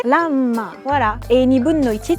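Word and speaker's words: らんま: Ce qui est intéressant, c'est que Ranma, c'est des kanji. Mon père, qui lit parfaitement le chinois, lisait Ruanma. Mais en japonais, Ranma.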